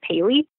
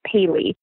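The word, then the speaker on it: Pehle: carried them out yeah his name is actually pronounced Bailey it took me a while to baby it out yeah because it's not intuitive it's Peh le and it's pronounced Bailey Bailey all right John Bailey he was a German extract his father had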